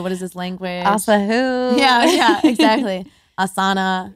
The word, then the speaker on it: asana: is this language yeah asana yeah asana long a a s a you a sa na na no it's good so it's just a long a and yeah so let's